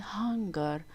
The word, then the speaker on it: hunger: There is a difference, guys, between hanger and hunger. Hunger with HU is about being hungry, but here we have HA, hanger.